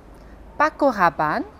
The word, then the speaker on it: Paco Rabanne: Então, as palavras são, e a pronúncia correta é Carrefour, Paco Rabanne, Jean-Paul Gaultier, Lacoste, Lancôme, Chanel Eau Tendre, Citroën, Peugeot, Renault.